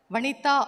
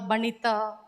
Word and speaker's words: Vanita: Uh I'm very happy because only in Tamil Nadu my name is pronounced very well Vanita or Murikumar. Every time I have a difficulty in my name sometimes in north they call Banita.